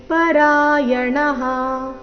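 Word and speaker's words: ಪರಾಯಣಾಃ: ಚಾತಿ ತರಂತ್ಯೇವ ಮೃತ್ಯುಂ ಶ್ರುತಿ ಪರಾಯಣಾಹ ಮೃತ್ಯುಂ ಶ್ರುತಿ ಪರಾಯಣಾಹ ಇಲ್ಲಿ ಪರಾಯಣಹ ಈ ರೀತಿ ಬೇಡ ಣ ದೀರ್ಘ ಹೇಳಿ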